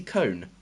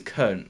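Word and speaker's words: Köln: is it uh essie cone i think that's who we're playing yeah essie cologne or i think it's kern that's how you say it you should know how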